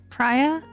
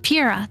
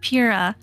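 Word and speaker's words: Pyrrha: Priya. Priya, something like that. Pira? Pira, yes, Pira.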